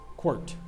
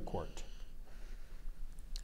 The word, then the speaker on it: quirt: m e p h i t e i quirt it means a riding whip used especially in